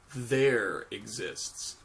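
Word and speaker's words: ∃: We have an upside down E, and that is pronounced as not exists, there exists. That's how we pronounce that E.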